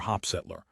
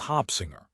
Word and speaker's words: Hopsinger: Jetty pronounced the S. Hopsinger was silent. Tell me what y'all doing down here in Mississippi, Mr. Hopsettler. That's Hopsinger. Now that we know that's your name, we can keep this going.